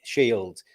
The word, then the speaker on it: Scyld: I'd imagine your Christian name, which is spelled Scyld, Shield.